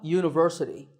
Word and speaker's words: university: is a university because even though university starts with the letter u the first sound of the word is not a vowel sound we don't say university we say university so that first sound is a ya sound which is a consonant sound so we say a